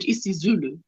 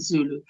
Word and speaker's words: isiZulu: You say, one would say, the right way to say is isiXhosa and isiZulu, but it's what we would say, Xhosa and Zulu.